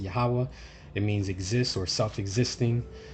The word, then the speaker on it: Yahawah: When you translate that in Hebrew, some people pronounce it differently. I pronounce it Yahawah.